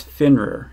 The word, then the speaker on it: Fenrir: This is the Damn Designs Fenrir, F-E-N-R-I-R. I think I'm pronouncing that right.